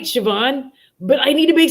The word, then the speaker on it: Siobhan: And I was like, it's Siobhan. And like every few minutes, this is the ADHD brain, by the way, y'all. Because I was like, what if they say something? And then I'm like, right, Siobhan, but I need to make sure I'm saying